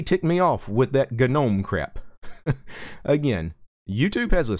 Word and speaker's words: GNOME: So if you want to pronounce it GNOME, go ahead. But don't call me an idiot for pronouncing it GNOME when that's originally what they wanted it to be pronounced.